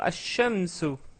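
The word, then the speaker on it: الشمس: Le soleil, on va dire ash-shamsu.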